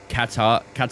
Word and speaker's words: Qatar: Doesn't really rain that much here in Qatar, so no rain expected for this weekend at least.